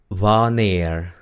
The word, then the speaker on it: wanneer: Eso indica que la A es larga, la pronunciación es A. ¿Ok? Bueno, waar significa dónde. Luego tenemos wanneer.